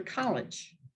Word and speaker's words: college: word like college and usually that second vowel is going to take a schwa college becomes like an almost like a short eye college because it's unaccented unstressed and takes on the form unlike a short e we don't say college we go to college we say we go to college okay unaccented schwa last one's a little